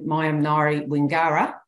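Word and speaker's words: Maiam nayri Wingara: And also our own Mayam Nari Wingara, Ella, that's how you say it, is our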